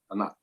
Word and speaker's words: Anat: A Nath.